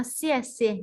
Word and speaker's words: 谢谢: คะ เมื่อ กี้ เค้า ขอบคุณ ออก เสียง ว่า เสี้ยน สิ นี่ นะ คะ อ้า ผู้ ชาย อีก คน